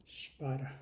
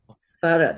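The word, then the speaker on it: स्वर: Spara. Svara, that's right. That was a beautiful pronunciation. Svara. Short vowel, so it's svara.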